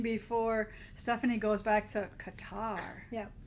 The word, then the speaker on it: Qatar: out and bonding before stephanie goes back to qatar yeah right did i say it right you